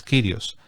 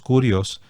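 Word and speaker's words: κύριος: o es curios bueno si lo dices en castellano es kirios si lo tratas de pronunciar según nos enseñan los biblistas en en el griego sería curios Pero es lo mismo kirios curios esa palabra eh No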